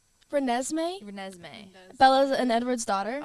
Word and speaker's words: Renesmee: Renesmee, Renesmee.